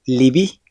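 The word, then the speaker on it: לבי: Esto sucede en palabras como libi, que significa mi corazón. Aquí la letra yud no tiene una vocal propia, pero sirve para marcar y acentuar la vocal i que acompaña a la letra bet.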